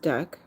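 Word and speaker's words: deque: 589 starting with stocking the DQ a DQ pronounced duck ah oh that's a duck my apologies I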